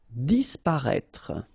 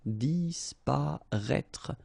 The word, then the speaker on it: disparaître: Disparaître, okay? So remember that we've got this accent circonflexe on the top of I, but then phonetically we don't pronounce it, so we get disparaître, disparaître.